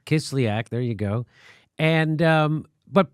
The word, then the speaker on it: Kislyak: Sergei Kislyak. Kislyak.